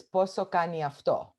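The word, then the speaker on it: πόσο κάνει αυτό: So the way you pronounce how much is this, poso kani afto.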